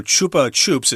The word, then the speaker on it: Chupa Chups: pronounce it maybe it's Chapa Chups or something like that but uh because it's from Spain and because I know a little Spanish the U is an o sound so Chupa Chups is how I'm going